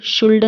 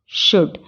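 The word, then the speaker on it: should: Fock अब इसमें world कुड शुल्ड नहीं पढ़ेंगे एल लिखा हुआ तो हम इसको कैसे पढ़ेंगे वुड कुड शुड यह अक्सर मेरी बच्ची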